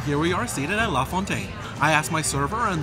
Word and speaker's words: La Fontaine: All right, my friends, and here we are seated at La Fontaine. I asked my server, and that's the official pronunciation of the restaurant name, so we're gonna go with that.